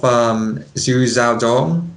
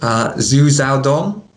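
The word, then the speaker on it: Xu Xiaodong: So, what is your opinion of Xu Xiadong, if I'm pronouncing that right?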